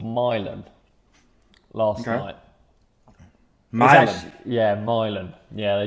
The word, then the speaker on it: Milan: italy okay all right i was like i like to say it like that milan where is it really what is the real place called milan but i like to say mylon i think there's something mispronouncing things that i enjoy i don't